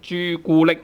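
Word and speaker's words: 朱古力: But then here we use tone 1 instead. 朱古力. It's very common to use all tone 1s when we have derived words from English. Okay, so for example, 的士的士 tone 1 or tone 2. For example, taxi 的士. 朱古力 all in tone 1.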